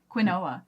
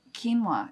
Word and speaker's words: quinoa: how we would say is quinoa but quinoa is what you're supposed to say I'm flabbergasted but it's coming to English through Spanish which Spanish got it from another language before that so its pronunciation yes is very different than its spelling no words no words